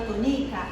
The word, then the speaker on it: Tonica: No nome da dona Tonica, a sílaba tônica é o ni. E na palavra que eu disse sílaba tônica é o to.